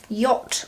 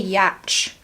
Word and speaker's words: yacht: I always want to say Yatch, just because of how it's spelled. It's like that's how I used to pronounce it when I was little and didn't know words.